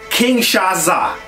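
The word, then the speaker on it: Kinshasa: this my dude shinsuke Nakamura his finishing move king shaza that's how you say it that's the that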